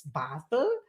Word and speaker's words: Basel: it in English but in German language is Basel basil maybe basil but this is like basilicum right so you are a